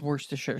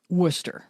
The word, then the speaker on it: Worcestershire: in my brain is worse to share sauce correct did you know we're all pronouncing Worcestershire sauce incorrectly it's Worcester sauce Worcester yes Worcester yes I